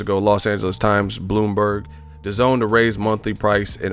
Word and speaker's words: DAZN: current monthly rate for the zone pronounced the zone the goal is to